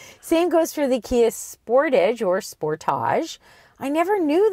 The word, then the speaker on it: Sportage: And he says to me, "You Canadians, you don't pronounce it Sportage." And I said, "No, we pronounce it Sportage."